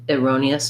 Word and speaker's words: erroneous: of this, we have the stresses on this R, so we just have kind of an I, erroneous, or an erroneous. You can even think of it as a schwa in that unstressed first syllable.